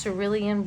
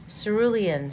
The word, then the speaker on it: cerulean: rich so there you go so that is Cerulean blue and this is how you spell it Cerulean Cerulean it's probably Cerulean c e r u